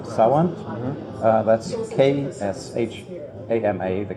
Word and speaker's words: Sawant: We've run candidates several times for city office, and in 2013 we were successful in getting a woman called Shama Sawant. That's K-S-H-A-M-A, the K is silent, Sawant, S-A-W-A-N-T.